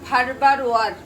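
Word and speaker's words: Farberware: ছুরির নাম ফারবার ওয়ার। তো এই আরটা অনেক সময় আসলে উচ্চারণ করে না, আবার করলেও সমস্যা নেই, আমি ওটাকে উজ্জ্ব করে ফেবার ওয়ার বলি।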